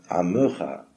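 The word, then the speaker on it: עמך: Alors, bien qu'il y ait un sheva sous le même, en prononciation ashkenaz, on dit Amcha, mais puisqu'il y a un dagesh, il faudrait dire Amecha, pas exactement E comme Seré ou Ségol, mais un sheva de Gusha se prononce E quand même.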